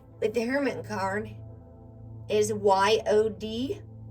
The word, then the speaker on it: Yod: The Hebrew letter associated with the Hermit card is Y-O-D, pronounced Yod, meaning hand.